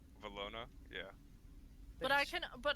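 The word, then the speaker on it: Valona: switch it up it's the way it's pronounced makes it seem like an e velona yeah but i can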